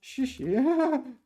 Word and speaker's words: 实时: 实时 It's one of these ones that both syllables are pronounced the same.